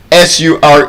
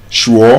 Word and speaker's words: sure: SURE is not sure. You say, are you sure? Sure? What is sure? It's sure. Sure.